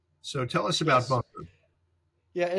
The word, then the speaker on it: Bunkr: us a little about it, and I should spell it Bunkr. So tell us about Yes. Bunker.